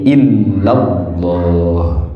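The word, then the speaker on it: إلا الله: Tapi digabung menjadi illallah. Illallah. Tasdidnya jadi dua. Di lam pertama, di lam kedua. Di illahnya ada tasdid, di lafaz Allahnya juga ada tasdid.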